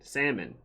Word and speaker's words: salmon: of dogs salmon salmon salmon whatever what is it the hell is silent bro huh the l is silent salmon so yeah salmon